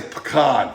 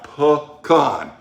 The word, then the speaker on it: pecan: ha Boom come rub I'll say pecan pecan pecan because I'm from Louisiana you know what they